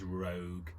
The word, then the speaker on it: Roeg: I never know how to pronounce this guy's surname, but I think it's Roeg.